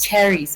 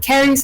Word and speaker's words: caries: Danie from the Corporate Association of South Africa, and the Managing Director of Caries. The first time I pronounced it as cherries. Is it caries or cherries? It's Caries. Caries.